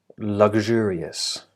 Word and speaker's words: luxurious: I'm doing will be luxurious luxurious and that's how it's spelled the stress is on the second syllable luxurious have a go at